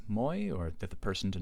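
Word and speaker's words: μοι: with a vowel and to fit the meter here we're going to pronounce Moy count Moy as short so again that Epsilon there is short so that Moy that normally long diphthong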